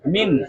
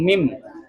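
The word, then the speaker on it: من: Nah cara bacanya minhum dan cara membacanya lagi nun sukun bunyinya jelas jelas nun sukunnya min bukan mim bukan ming bukan mim ya tapi min.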